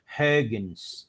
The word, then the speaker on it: Huygens: Então, eu acabei não falando que o Christian Huygens, na verdade, a pronúncia correta é Huygens. Esse biquinho.